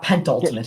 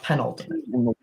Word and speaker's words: penultimate: It's not pentultimate, it's penultimate.